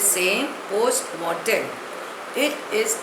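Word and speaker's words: post mortem: टी ई M pronunciation is also the same पोस्ट Merton it इज a Latin word it means examination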